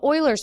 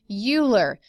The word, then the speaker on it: Euler: what we call the Euler's method okay I know you see this and you think Oh his name is Euler no nah he's German this is pronounced Euler